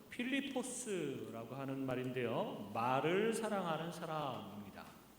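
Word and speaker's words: Φίλιππος: 빌립이라고 하는 이름 그리스어 발음으로는 필리포스라고 하는 말인데요.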